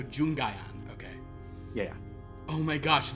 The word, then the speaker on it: Jungian: versions of themselves very I believe it's pronounced junjian it's a very jungian idea that you have to face Your Shadow Self I might not seen that right oh it's a hard G so jungayan okay yeah oh my